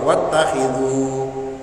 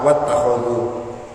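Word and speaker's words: وَاتَّخِذُوا: Ada qiraah dari jumhur ulama bacanya itu pakai kha yang dikasrah, jadi wattakhidhu. Kenapa? Karena imam lain ada yang membaca kha-nya ini di fathah. Kalau dia baca fathah wattakhadhu, kita bacanya apa? Wattakhidhu, ngikut jumhur.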